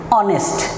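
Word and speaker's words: honest: তারপরে কি যদি এইচের উচ্চারণ না হয় উচ্চারণ করার ক্ষেত্রে, তাহলে সেখানে কি বসবে, এন বসবে। যেমন অনেস্ট, যেমন অনেস্ট। আর উচ্চারণ হলো horse, A horse, অনেস্ট, এন অনেস্ট, historian, N A historian.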